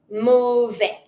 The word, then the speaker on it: mauvaise: If you want to make that feminine because you're talking about something that is feminine, you're going to write your E and then you're going to pronounce your S.